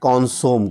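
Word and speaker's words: consommé: नाम से जाते हैं कॉन्सोम को। तो उसका कॉन्सोमे या कॉन्सोम, जिसके अगर आप इंग्लिश में देखो तो स्पेलिंग होती है CONSOMME, और हिंदी में कॉन्सोमे भी कहा जाता है उसको।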